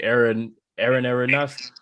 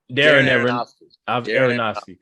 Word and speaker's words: Darren Aronofsky: I like Aaron Aronofsky. I can't never say his name right. Darren Aronofsky.